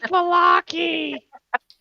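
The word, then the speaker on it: Vallaki: It's Valaki! See, there we go. We got it. How dare you pronounce it wrong?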